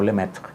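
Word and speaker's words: Lemaître: york le may 3 que en francés ese de pronunciar algo así como le meto que él formuló por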